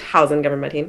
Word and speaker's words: Housein Gabramedhin: go ahead and Simon, you're saying her name wrong. It's the great Housein Gabramedhin. Okay, the great Housein Gabramedhin has pledged $200, so the next higher bid is $250.